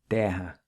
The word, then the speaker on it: terra: And guerrero or warrior in Portuguese is guerreiro, the double R is pronounced with an H sound. Other examples of this would be the word for car, carro, and land, terra.